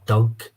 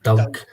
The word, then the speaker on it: dog: is dogs in Scot in Scotland we pronounce a dog as a Doug like Doug so he's shouting Doug's